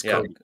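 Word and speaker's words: Cobee: They might not be statistically one of the best defenses, but when, you know, it's spelled C-O-B-E-E, I think, but it's Kobe.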